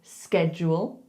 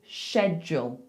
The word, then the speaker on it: schedule: So people in the US would say schedule, schedule. People in the UK would say schedule, schedule. However, this way of saying it, schedule, has become a lot more common in the UK.